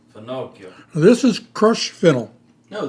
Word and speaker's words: finocchio: Finochio. Finocchio.